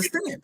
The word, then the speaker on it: scent: What letter is silent in scent? Which one? The smelling scent or the C? So then you got scent. SENT. Yeah. So one word is SENT, the other word is CENT, and then the third word is SCENT. So one of them letters got to be silent. So which letter is silent? You saying the S is silent or the C is silent? Saying the C.